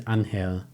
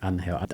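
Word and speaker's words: Ángel: It was Anhill. That's how it was pronounced. Spelled Angel. He pronounced it. And Lagueta pronounced it like Anhill.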